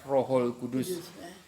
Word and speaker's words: Rohul Kudus: Tapi kan dalam pengucapan dalam bahasa Arab kan Rohul Kudus.